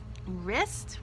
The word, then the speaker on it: wrist: you need the dough wrists we know that so wrist has a silent w known also know that